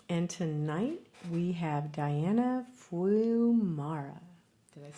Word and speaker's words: Fiumara: tonight we have Diana Fiumara. Did I say it right? Fiumara. Yeah, Fiumara.